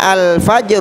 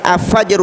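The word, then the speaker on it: الفجر: qamariyah Oleh karena itu cara membaca al-nya dibaca dengan jelas al-fajr Oh ya Enggak boleh juga kita baca avager usalah avager usalah karena dia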